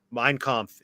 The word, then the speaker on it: Mein Kampf: Mein Kampf, is that how you pronounce it?